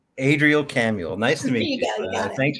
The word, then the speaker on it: Adrielle Camuel: had it this time it's Adriel camuel like Samuel Adriel camuel nice to meet you